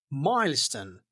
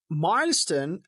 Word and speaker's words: milestone: for pronunciation uh milestone and milestone both pronunciations are true. The estress is on the first part.